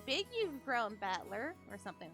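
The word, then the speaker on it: 戦人: Made up of the characters for fight and person, and it's pronounced Battler.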